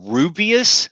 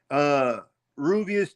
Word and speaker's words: Rooibos: And for y'all that don't drink tea, Rubius tea is spelled Rooibos, but it's South African.